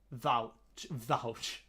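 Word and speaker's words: Łowicz: Vouch. Is it actually called Vouch? That's actually called Vouch. Yeah, C is always TS.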